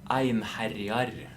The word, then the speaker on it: Einharjar: Also, I have someone from our guild asking, how do you say our guild name, which is Einharjar, properly in Norwegian, which is Einharjar. That's how you say it. It's one who ravages. Ein som herjar. It's Ein is one, etc., etc. One who ravages. That's how you say that.